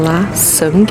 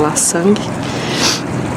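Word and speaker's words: Lan Xang: fundado, mas ele era conhecido como La Sang, acho que é assim que fala, porque a moça me falou que o X pronuncia como S, não sei se em todas as palavras.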